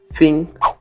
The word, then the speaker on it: think: You think. No TH, no início da palavra, você coloca a língua entre os dentes e soa com o som de F.